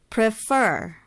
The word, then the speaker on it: prefer: and then soft open prefer prefer stress is on the second syllable for prefer so for uh this